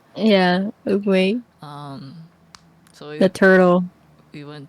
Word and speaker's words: Oogway: Yeah, Ogwe.